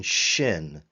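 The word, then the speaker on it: שין: to remind you that it's sh as in Shin for the consonant shin lastly too again we're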